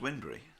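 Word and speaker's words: Wybunbury: that's uh it's spelt why bunbury but it's pronounced windry yeah oh you oh dear tell me about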